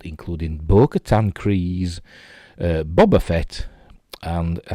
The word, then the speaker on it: Boba Fett: i say i say boba fett because that's just how i've always pronounced it and it's how harrison ford pronounced it in return of the jedi so i say boba fett none of this bob